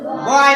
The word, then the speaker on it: boy: तो ऑय, ये जो ओ और जो वाई है इसका यहाँ पर उच्चारण क्या निकल रहा है? ऑय। क्या निकल रहा है? ऑय। तो ब में ऑय जुड़ा तो बॉय हो गया।